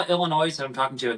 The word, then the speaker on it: Illinois: And if you're not from Illinois, it's called Illinois. It's like, no, it's not Illinois. It's just Illinois. That's the silence.